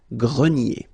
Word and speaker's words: grenier: Remember this ER here at the end will give you the sound E, nier, grenier.